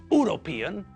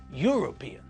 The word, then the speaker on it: European: to say an hour with university uniform and European we pronounce all these words with a year sound at the front it's not university it's University it's not uniform but uniform and it's not European it's European so we have to remember